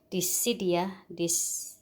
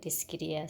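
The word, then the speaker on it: Dischidia: Some people call it Discidia. I call it Discidia.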